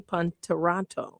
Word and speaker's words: Ponterotto: I have Jason with me, Ponterotto. Am I pronouncing it correctly, Jason? Yes, you did.